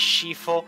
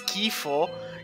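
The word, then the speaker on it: Scifo: was flynn shifo seriously his surname is shifo like fun thing if you had an age give a surname and you pronounce it as kifo it means the disgusts of flint disgusting flin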